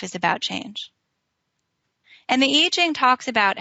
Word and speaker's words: I Ching: Now, there's a book that many of you might have heard called the I Ching. It's I Ching. It's spelled I Ching in English, but the Chinese pronounce it I Ching.